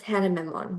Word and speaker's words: Hana Memon: we are thrilled today to have Miss Hannah Memon with us. Is that how you pronounce her name before we Yeah, start?